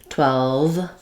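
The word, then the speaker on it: twelve: or dwell um 12 and then finishing on the V after the L can be difficult 12 12 what you want to do is close your teeth to your lip V and that's a continuing sound 12 and also we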